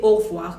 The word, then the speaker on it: au revoir: just a matter of whether or not you pronounce the E in the middle. There's a letter E in the middle of that spelling. So what it can be, you may not pronounce it and you may pronounce it, but however you do it, you could have au revoir. When I say au revoir, I didn't pronounce that E.